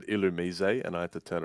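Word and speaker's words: Illumise: that caurus and it's an illusion right it's illumis no it's it's actually ilum because he's from France like I should no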